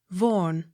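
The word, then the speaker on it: Vaughan: a y n e tremaine accent on last syllable t-y-r-w-h-i-t-t tear it h v-a-u-g-h-a n vorn v a u x vox the x sounded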